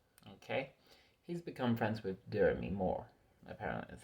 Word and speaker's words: Demi: He's become friends with Demi Moore. Apparently that's how you pronounce it, not Demi, Derby.